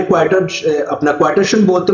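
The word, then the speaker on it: quaternion: ठीक है, ये है क्वार्टेशन, ओके, क्वार्टेशन। इसमें आर बच्चों साइलेंट होता है क्वार्टेशन।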